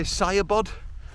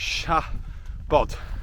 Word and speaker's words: Siabod: it written in English we kind of want to say saod but that's because as English speakers we think everything's an English alphabet but in the Welsh alphabet when you have an S followed by an i it gives you a sh noise the same as an S and a h in English which is why it's sha bod and not saod um I was used